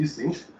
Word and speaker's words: Ising: I think he was German, so I should pronounce it Ising.